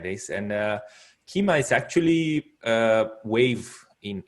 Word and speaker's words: Kyma: the wave and uh it's a little bit hard to pronounce because key why but it's called keema so yeah it's it is not a native english speaker's uh tongue for sure so i'm not sure we in america everybody i introduced it to said it incorrectly as kaima yeah exactly yeah it